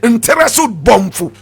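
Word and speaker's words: Ntereso-Bonfu: Nteresu Bomfu. Nteresu is spelled N-T-E-R-E-S-O hyphenated B-O-N-F-U.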